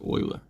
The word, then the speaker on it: Euler: as jeweler but it's actually oil there that pronounced like Euler okay if you put if you say you